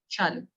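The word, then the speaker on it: Shallu: So yes, it goes with double L. But actually my name is Yeah. pronounced Okay. as Shalu.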